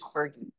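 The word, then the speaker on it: PHRGE: and the global economy known by its initials phrg or Fergie I've heard it pronounce many ways but we tend to use Fergie um on behalf of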